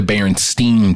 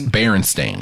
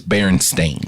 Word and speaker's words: Berenstain: was the baron stain bears not The Berenstein Bears stain like stain on a barren's Berenstain I just like this because everybody can't read we was all kids reading those books we was all pronouncing it wrong remember which one it was it was it was Berenstain I remember that so